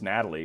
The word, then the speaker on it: Nathalie: Natalie? Probably how you say it. It's Natalie, but I want to say the TH.